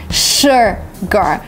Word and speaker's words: sugar: Because sugar, yes, you're tempted to read like that because the second letter is U, but it's actually sugar. You kind of just make this fake smile with your mouth and say sugar. That's the right way to pronounce this word, sugar.